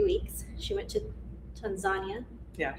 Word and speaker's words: Tanzania: She went to Tanzania. Yeah. Said it right, Yes. Tanzania, and then you went to climb Mount Kilimanjaro, and then you ended at a safari.